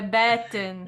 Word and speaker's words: Batten: ela muito legal, e eu fiz associação com Batman. Então a gente tá falando errado, é Batten, gente, Hailey Batten. É mais difícil falar Hailey Batten do que Nicolas Sessler.